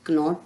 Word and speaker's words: knot: तो यहाँ पर हम के साइलेंट है, तो ये ध्यान रखेंगे कि अगर रूल्स के अनुसार N से पहले के आता है तो के साइलेंट होगा, तो यहाँ पर KNOT नॉट नहीं होगा, नॉट होगा।